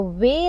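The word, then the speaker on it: 웨: for you it's waste now when you say waste the way that you are saying is actually the pronunciation of this combined vowel way i hope you got that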